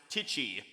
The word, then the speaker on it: tai chi: or tai chi spelling it's pronounced tichi with a long eye i'd rather have a